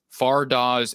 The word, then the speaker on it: Fardaws: originally from afghanistan and that is how you pronounce his name far dawes a mac it's not amiku it's not a mac way it's amac all right farda's amax so the amac attack